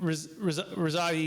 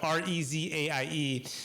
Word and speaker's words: Rezaie: And Rezaie is how you pronounce it. I don't know how you Yes. pronounce it, Rezaie, and it's Correct.